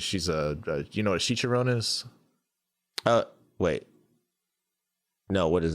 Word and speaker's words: chicharrones: emily too she's uh she's a chicharon hopefully i'm saying that right she's gonna kill me she's like that ain't even that's how you say it it's chicharrones it's like i was like